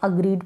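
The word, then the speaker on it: agreed: अग्रीड, इसको हम अग्रीड पढ़ेंगे। जी आर का ग्र बन गया, याद रखें। और ये जो ई है ये ग्र के साथ बड़ी ई की मात्रा के रूप में लग गई है।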